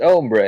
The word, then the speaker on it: hombres: Seem to be pretty far away from your hombres. So do you. It's pronounced ombre, actually.